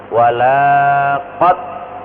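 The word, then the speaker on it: وَلَقَدْ: hati-hati seringkiali saya sampaikan lam dibaca pendek ini artinya sungguh-sungguh jangan sampai membacanya dengan memanjangkannya walaqad Wah ini berubah 100%. dan sungguh tidak karena lamnya dipanjangkan itulah ada istilah ilmu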